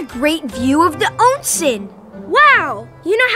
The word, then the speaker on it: onsen: They're snow monkeys, and they love being in the warm water of an onsen as much as people do.